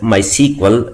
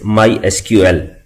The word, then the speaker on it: MySQL: oracle corporation we can call this product as my sequel but the official way to pronounce it is mysql with the help of this product we can